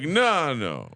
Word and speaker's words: Fagnano: Fagnano. There you go. Just I encourage everyone to say it like that, just to protect yourself. Use the finger so you know you're talking Italian.